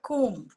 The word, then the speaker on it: comb: And for example, ba sound, it's actually silent in the word comb.